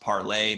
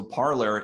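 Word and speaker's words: Parler: it's spelled parlor but it's french word so I think it could be pronounced parlay but I think most people pronounce it parlor anyway so parlor is sort of a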